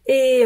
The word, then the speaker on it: et: Donc, et un jour, le et, c'est une liaison interdite, on prononce jamais le t, mais si c'est suivi